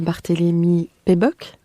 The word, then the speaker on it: Barthélémy-Péboc: Bonjour Anita Barthélémy-Péboc, c'est bien comme ça que l'on prononce. C'est exact.